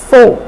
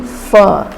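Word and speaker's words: phở: It's tempting to pronounce this popular Vietnamese dish made of noodles served in broth as pho, but it's actually pho. It's somewhat like pronouncing fur without R or fun without N.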